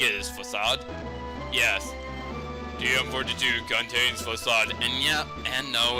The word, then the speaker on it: Facade: TM42 contains Facade, and yeah, and no, it's not pronounced Facade, it's pronounced Facade. I used to pronounce it Facade, but now I know better.